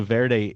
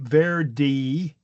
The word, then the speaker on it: Verde: But then we have the spa uh Portuguese who had taken over the land and basically or you know settled the land pronouncing it ver and then we have English speakers hearing that and then pronouncing it without the e is what I think happened.